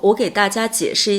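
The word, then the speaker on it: 卷: For example, when we say "shi4 juan4", it is the paper used for the exam. We say "Juan4", the fourth tone. If "juan" is used as a verb, it is pronounced in the third tone juan3.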